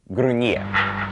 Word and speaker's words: gruñir: Remember the N with the tilde over it is pronounced like nia. Let's start with the conjugation of gruñir.